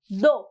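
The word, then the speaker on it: though: D next इस दो हालांकि दो दो इट्स नॉट थ्रो इट्स दो टी और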